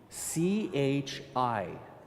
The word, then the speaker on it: chi: This other symbol right here is an X, and that is called in Greek a chi. C-H-I, chi.